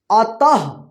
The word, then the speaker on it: अतः: जाएगा देखिए यहां पे अ तः त के बाद जो है ना ह का उच्चारण हुआ है तो यहां पे लिखेंगे